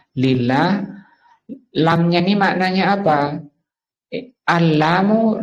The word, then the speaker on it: لله: Asalnya li Allahi. Alnya dibuang karena seringnya dipakai menjadi bacanya lillah.